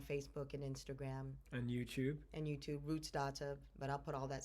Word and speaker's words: Rootsdawtah: Yeah, so Rootsdawtah, it's patois, It means I'm an uptown girl, but I'm into my roots and my culture.